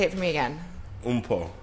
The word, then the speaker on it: Mpho: Mpho. Mpho. Really, my name is pronounced Mpho, but I'm not even going.